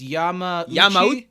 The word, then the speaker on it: Yamauchi: It's Yamaguchi without a G. It's Yamauchi.